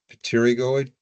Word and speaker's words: pterygoid: muscles such as the – I'll struggled with pronounce this – 'pterygoid muscles'.